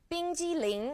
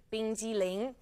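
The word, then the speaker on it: 冰激凌: 冰激凌 is how you say ice cream, 冰激凌.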